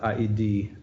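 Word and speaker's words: ᾍδῃ: You have all these vowels, and in the case of aidi, which means Hades, you do that iota, you do pronounce it aidi, and so yeah, good.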